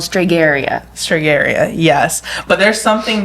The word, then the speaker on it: Stregheria: So the Italian American religion is called Stregheria. Stregheria, yes. But there's something that predates that, correct? So let's start with like a history lesson. So okay, so a lot of Americans hear about Stregheria, and Stregheria is a religion, and it's very